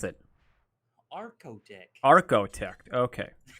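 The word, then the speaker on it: Archotech: How do you pronounce it? Arcotech. Arcotech.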